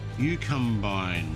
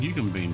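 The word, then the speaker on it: Eucumbene: Yukbine. You can bean. Oh, it's yuken bean.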